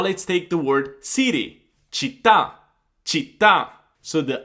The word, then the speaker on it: città: Città, città.